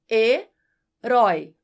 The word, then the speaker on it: herói: heroico perdeu o acento Já a palavra herói permanece acentuada porque o ditongo aberto Oi está em uma palavra oxítona Ou seja a sílaba mais forte é a última quando você divide as